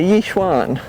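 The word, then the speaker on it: Yi Xuan: But this one is a Yishwan. What is it? Yuwan, which is Walter's uh variety. Yuan.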